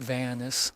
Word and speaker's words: Vance: Beatrice Carver's stalker, a tall man in a dark coat, and a business card from Cyrus Vance, pronounced Vanis, a lawyer with a shaky story, had turned our closed case into a live wire.